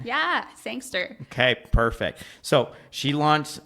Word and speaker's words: Sangster: Did I pronounce that right? Yeah. Sangster.